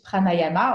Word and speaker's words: pranayama: called in French and in English pranayama or pranayam. He told me also it depends how you pronounce it.